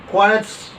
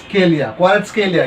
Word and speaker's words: Kvaratskhelia: have actually scouted 18-year-old Rubin Kazan midfielder Quisha Quaritz. Oh my god, what's his name? Okay, I'll try to spell it out. No, I'll not spell it out. I'll try to pronounce it. Quisha Kvaratskhelia, yes.